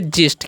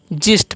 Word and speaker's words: gist: आगे लिखा हुआ GIST, तो इसे हम क्या पढ़ेंगे, इसे हम पढ़ेंगे जिस्ट। क्या पढ़ेंगे, जिस्ट पढ़ेंगे, ठीक है।